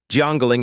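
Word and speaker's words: 江陵: When the word river is pronounced Jang and the word tomb is pronounced Ling, Jangling is a county in Jingu.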